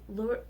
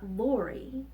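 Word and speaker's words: Lurie: Hospital here in Chicago it's lower it's spelled Lu RIE so it's not Lori but blue areas Children's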